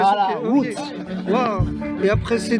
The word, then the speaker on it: Łódź: Łódź. Ah, Łódź. Voilà. Pas bien la prononciation. Voilà, Łódź.